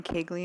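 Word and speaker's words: Koegle: my name is kagley and I did take the oath my name is spelled last name is k o e GLE e pronounced kley um I wasn't going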